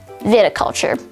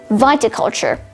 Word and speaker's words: viticulture: word of the day is viticulture spelled v-i-t-i viticulture viticulture has one alternate pronunciation viticulture viticulture is a noun which derives from latin